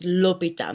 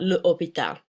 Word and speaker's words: l'hôpital: So it's l'hôpital, not le hôpital.